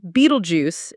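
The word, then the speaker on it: Betelgeuse: Beetlejuice like the star, but pronounced Beetlejuice in the movie.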